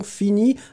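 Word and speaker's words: finis: Sophia X, attention, fini. Hein, F-I-N-I-S. Hein. N'oubliez pas le S. Renato Silva aussi, n'oubliez pas le S. On ne prononce pas le S, mais il est là.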